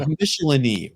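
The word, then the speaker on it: Michelinie: Dave Michelini, rhymes with Tickle My Knee.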